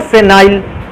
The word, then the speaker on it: phenyl: और इस ग्रुप को पढ़ते हैं या तो आप फेनिल बोल सकते हो या तो फेनाइल, इसलिए स्पेलिंग इसकी स्टार्ट होती है P से।